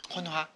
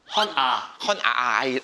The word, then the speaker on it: 헌아식: 헌화? 헌아. 헌아. 제 발음이 이상한 건가요? 제가 이상하게 기가 좀 헌아식. 헌아식.